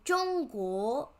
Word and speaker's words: 中国: So we have ZH is pronounced J, not za or zo. It's J. So 中国.